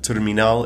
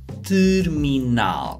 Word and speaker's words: terminal: And in this case, the spelling of terminal is exactly the same, but as you can hear, the pronunciation is tricky. Terminal.